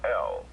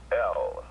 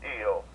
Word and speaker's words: El: to the Moors is l e l l it's pronounced L not eel that's that's something look